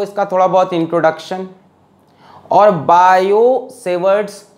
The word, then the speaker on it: Biot: थोड़ा बहुत इंट्रोडक्शन और बायो-सेवर्ट्स लॉ पढ़ाएंगे, ठीक है। बायोट लिखा होता है किताब में, टी लिखा होता है तो टी साइलेंट होता है। बायो-सेवर्ट्स लॉ पढ़ाएंगे जिससे हम